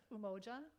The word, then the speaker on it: Umoja: And so the first one, and Nina was good at helping us pronounce it, that it's Umoja, which means unity.